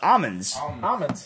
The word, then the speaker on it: almond: is driving me nuts almonds almonds did somebody actually say the word the L in that almond so no the guy